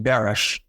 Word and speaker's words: Baris: Not to digress, Glory, but my Baris is actually pronounced Barish, and it's Hungarian, and it meant a sheep herder.